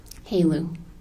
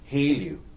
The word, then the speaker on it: HALEU: Haleu. Haleu.